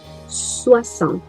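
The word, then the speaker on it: soixante: eu falo senta senta em francês a gente pronuncia sua ação não fala o finalzinho né situação e 70 eu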